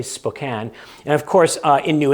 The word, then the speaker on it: Spokane: It looks like Spokane. Most people say Spokane, but if you're from the area, it's apparently Spokane.